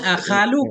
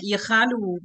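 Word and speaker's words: أخال: Kalau Ini akhalu fi'il mudhari' dari khala, kan? hmm, Tapi ada juga logat yang membacanya ikhalu, mukhalafahiyah. Mestinya kan fathah Ustaz. hmm. Akhalu. Di depan kemarin ada penjelasan, ada juga orang yang membaca ikhalu. Ini menyalahi aturan, tapi nggak apa-apa.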